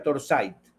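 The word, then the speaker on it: Torzite: Se escribe en inglés y se se pronuncia torsite, pero torcite es carburo de torsite.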